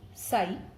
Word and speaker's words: psi: Okay, and this psi, okay, it is pronounced as psi.